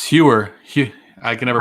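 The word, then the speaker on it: Heuer: It's Hewer. I can never pronounce it right. Hoyer.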